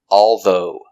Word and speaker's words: although: that are different but although has less emphasis let's look at the pronunciation pronunciation although ah two syllables although although stress on the second syllable although although although it's